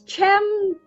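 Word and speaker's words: Cem: name is Jim because I think Turkish people the see the see in the e they pronounced like Church so it's Jim something now I had also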